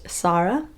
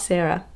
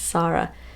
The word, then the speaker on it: Sarah: By the way, if you guys don't know, my name is actually pronounced Sarah. It's not Sarah, it's Sarah. And I know it's spelled like Sarah, which is very confusing, so I just thought I would let you know.